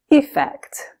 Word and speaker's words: effect: however effect is pronounced effect almost like it has an e sound at the beginning okay so what do